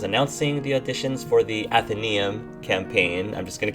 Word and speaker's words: Athenaeum: I have been so excited at the response for the Athenaeum campaign so far.